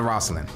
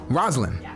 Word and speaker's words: Roslyn: Not Roslyn. Roslyn. I said it right, almost the first one? Do we roll the R? Is the R rolled?